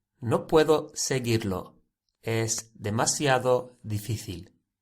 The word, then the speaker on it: seguir: But the reason why there is a U after the G, it's not pronounced. And the reason is it's to make the G G sound, a hard sound, seguir.